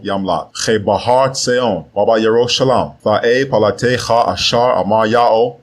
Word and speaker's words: Yerushalayim: In Mount Seon and in Yerushalayim, which are mispronounced as Zion and Jerusalem, will be deliverance, as Yahweh has said.